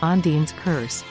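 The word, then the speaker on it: Ondine's curse: lack of Curative treatments from its name pronounced as and's curse to its mythological and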